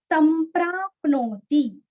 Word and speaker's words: संप्राप्नोति: संप्राप्नोति, सम आधा म, प्राप आधा प, नोति तीरस्व, संप्राप्नोति, संप्राप्नोति न संशयः।